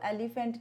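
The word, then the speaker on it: elephant: मैंने देखा है इसको सारे एलिफेंट बोलते हैं, इसको एलिफेंट नहीं बोलते। इसकी प्रोनाउंसिएशन क्या होती है, एलिफेंट, एलिफेंट, एलिफेंट, फैंट नहीं होता, एल।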